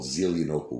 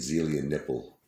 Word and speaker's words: Zelienople: There's a place called Zelienople we lived in. I remember I was pronouncing it Zelia Nipple.